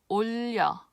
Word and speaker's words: 올려: But again, And again, as I mentioned before, the exception is 올려.